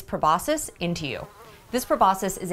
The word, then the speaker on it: proboscis: I always said proboscis when I worked in a Drosophila lab, and it does seem that that's a valid pronunciation, but the proboscis is more accepted.